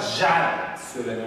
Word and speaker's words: jar: Okunuş olarak jar söyleniyor, jar. J harfi noktalı Z'dir arkadaşlar.